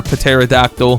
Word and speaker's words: pterodactyl: We're about to get tempestuous though, hopefully from our pterodactyl. Also, before anyone says anything, I know the P is silent, but it just sounds funnier, you know?